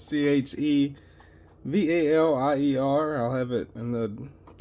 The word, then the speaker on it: Chevalier: Kind of debatable, I guess, on how you pronounce it, but it's Chevalier.